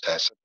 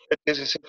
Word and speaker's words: HACCP: Fourth one is your हैसप, HACCP, इसको pronounce हैसप करना है, HACCP नहीं बोलना, हैसप।